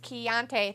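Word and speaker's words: Chianti: I know you're in Florida Rob says it's pronounced chiante thank you I didn't know and I couldn't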